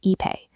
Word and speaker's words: Ipe: Finally, we have Ipe, pronounced Ipe.